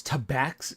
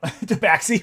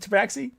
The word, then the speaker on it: Tabaxi: You can't pronounce tabax. Fucking tabax. Look at me now. Now I'm fucking it up. Tabaxi, right? Is it tabaxi?